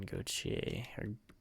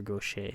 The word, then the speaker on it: Gaucher: Obviously Nathan Gauthier, or Gaucher, sorry, not Gauthier.